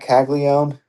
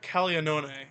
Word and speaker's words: Caglianone: It's Jack Caglione. yeah, Jack. Well, Jack Caglianone is how you should pronounce it, but he says Caglianone.